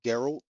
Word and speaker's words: Geralt: I need some I'm pretty sure it's Geralt because the G is really prominent in his name. And not only that, the car that's what the NPCs and everyone calls them. They that's how they pronounce it, Geralt.